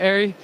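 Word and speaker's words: ARRI: we can see the airy stuff and it's pronounced airy right you guys say airy right it can go both ways there you heard it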